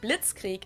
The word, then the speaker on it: Blitzkrieg: World War II but it actually happened we pronounce it Blitzkrieg in German and it literally translates to lightning